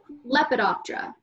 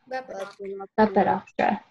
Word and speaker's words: Lepidoptera: you saying them to learn how to properly pronounce it. So, Coleoptera. Coleoptera. Coleoptera are your beetles. Lepidoptera. Lepidoptera.